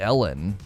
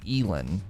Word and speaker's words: Elon: his name correct right it's elon musk it's not like ellen it's like elin right elon musk how